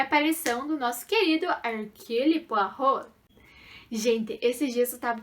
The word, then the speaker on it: Poirot: aqui no YouTube e eu falei Hercule Poirot. E na verdade é Poirot, né? Então me desculpem. Eu não sabia francês e agora eu continuo não sabendo francês, mas eu aprendi essa pronúncia.